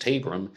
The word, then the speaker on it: Tabram: 7th there's the murder of Martha tabram sometimes pronounced tabram and she is a